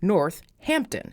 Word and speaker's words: Northampton: of the town is spelled with only one H but it is distinctly pronounced with two h's North Hampton it has become a